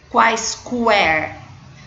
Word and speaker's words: quaisquer: Nós não pronunciamos o vocês já aprenderam. O U não é pronunciado. Nós não falamos quaisquer. Nós falamos quaisquer. Como o U não é pronunciado, nós não temos o ditongo aqui.